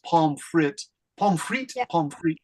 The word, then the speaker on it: pomme frite: Pomme, this is pronounced pomme frite.